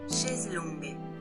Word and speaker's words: chaise longue: Chaise longue.